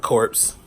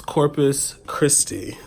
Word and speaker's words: Corpus Christi: So I was saying like corpse, and I was thinking to myself like that is definitely not how you pronounce it.